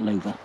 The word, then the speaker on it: Lowa: the website, the Lowa, I think in English it's pronounced Lowa, but it's a German make, so I think they pronounce that Lowa. At least that's what Google Translate tells me.